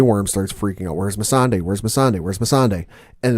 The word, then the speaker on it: Missandei: Well, we've been pronouncing the name wrong the entire time, so apologies. It's Missandei who's been missing.